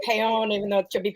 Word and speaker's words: Paone: I say Paone. It's Paone, but it's Paone because America. It's a Bayonne. It's Paone because of America.